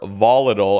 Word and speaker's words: volatile: is reached baboon Shaman's volatile or volatile as the Americans say baboons and curse baboons